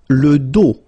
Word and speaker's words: dos: Le dos. Final S not pronounced, okay?